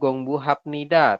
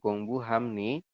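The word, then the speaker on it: 공부합니다: Bukan ibnida, bukan gongbu hapnida, tapi imnida dan gongbu hamnida.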